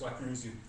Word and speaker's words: Wechner: I'm Weckner. I'm a crowd, so I spell my name funny. It's H. Say it like K's. But if you call me Weckner, I'll know exactly what you mean.